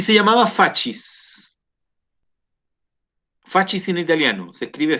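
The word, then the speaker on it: fasces: Nosotros en castellano la C la pronunciamos como S, ¿cierto? Si se combina con una I, suena fascis. En italiano la C suena siempre como CH, por lo tanto se habla de fascis.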